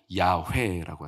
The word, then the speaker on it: 야훼: 히브리 발음 그대로 음가를 발하면 야훼라고 하죠.